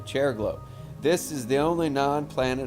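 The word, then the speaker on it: Chariklo: sh what is it how do you pronounce that cherlo cherico ch ch the chair and the the chair glow okay chair glow this is the only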